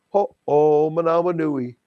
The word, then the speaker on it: Ho'omanawanui: He says, Michael, ho oh manawa nui. Ho oh manawa nui. God, that makes it so easy, Michael. Ho oh manawa nui.